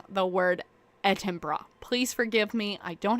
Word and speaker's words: Edinburgh: I realized how to say it. It's Edinburgh. Like bruh. Like bro, like Edinburgh.